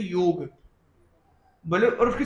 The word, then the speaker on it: योग: उसका right pronunciation है वाई ओ जी की तरह योग ग पूरा योग और योग इसमें थोड़ा सा फर्क आ जाता है।